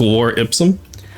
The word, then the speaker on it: Lore Ipsum: For the record, my my lore folder is called Lore Ipsum, but it's spelled with like lore, so it's just Lore Ipsum.